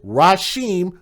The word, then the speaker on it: Rysheim: guy that's her boyfriend and his name is Raheem Smith if you want to know how to spell it it's ry Sh II am he was